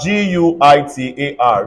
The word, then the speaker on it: guitar: one more time again yeah if I have g-u-i-t-a-r this is not Genta everybody say guitar I can find it in g-a-r-a-g-a pronounce this word for me you say garage